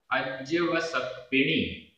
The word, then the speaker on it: अज्जवसप्पिणी: अज अज्जवसप्पिणी, ये पूरा एक साथ हमें बोलना पड़ेगा। अज्जवसप्पिणी, आधा ज पूरा ज, आधा प पूरा प, अज्जवसप्पिणी।